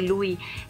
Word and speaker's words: Lewy: Este Lewy se deletrea L-E-W-Y, una palabra es del inglés, que por lo cual se pronuncia así.